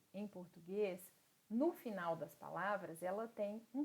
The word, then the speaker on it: final: Eu tenho que dizer final, fatal. Sempre que nós falarmos a letra L em espanhol, nós vamos segurar essa pronúncia no céu da boca.